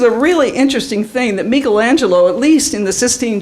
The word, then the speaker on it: Michelangelo: we go here we go oh artistic now Michelangelo you got to say his name right you know if you've been to Italy you know it's not Michelangelo Michelangelo he depicted what he thought would be